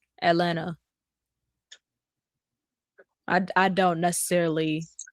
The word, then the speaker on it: Atlanta: And then Atlanta, they're like, the T is silent in Atlanta. I ain't never heard of a silent T. Atlanta.